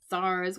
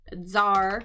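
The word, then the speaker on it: tsar: SARS with a zed sound. by the way. Zar, sorry, Zar.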